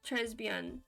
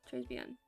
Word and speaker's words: très bien: Yeah, you do pronounce it Très bien. Très bien? Yeah, Très bien. You don't pronounce the S in Trey. It's silent.